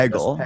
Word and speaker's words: Hegel: Hegel is the typical pronunciation.